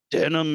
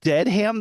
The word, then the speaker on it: Dedham: So currently I live in Denham, Massachusetts. It looks like it's The spelled dead. birthplace of the gene. Really? Denim? Yeah. I get that joke now. It looks like it's spelled Deadham though, and we're really close to The a town.